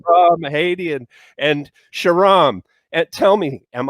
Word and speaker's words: Shahram Hadian: Give me the pronunciation of your first name with apologies. No, Go for it. no problem. It's Shahram Hadian. Shahram Hadian. Shahram Hadian.